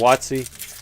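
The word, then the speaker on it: WotC: not 251 and then watsi yeah that means wizards of the coast people say it like yahtzee but with a w nothing there joshua says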